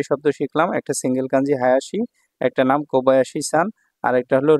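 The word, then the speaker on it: 林: কাঞ্জিটা দেখুন প্রথম যে কাঞ্জিটা আছে এটা হলো হায়াসি হায়াসি হচ্ছে ছোট বোন এটাকে বলা হয় ঠিক আছে ছোট বন অর্থে এটা প্রকাশ করা হয়ে থাকে এটার দেখুন এখানে চাইনিজ উচ্চারণ হচ্ছে ঋণ ঋণ ঠিক আছে ঋণ আবার এটাকে বায়াসিও বলা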